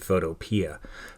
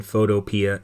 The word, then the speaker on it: Photopea: Gravit we're going to use Photopea or Photopea, however you want to pronounce it. I pronounce it Photopea, but it's our Photoshop